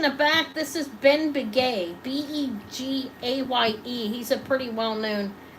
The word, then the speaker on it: Begaye: It's spelled B-E-N, and then Biguet is his last name, B-E-G-A-Y-E.